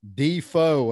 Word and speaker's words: Defoe: fishing none other than ott d-fo and i say that because i have been pronouncing for years like mercer said i pronounced his name wrong you know for a